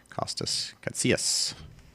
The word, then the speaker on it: Kostas Katsias: model maker which is kostas katsias that's how you say his name properly he has submitted a